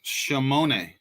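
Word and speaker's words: שמונה: In Hebrew, the word 8 is pronounced shemone.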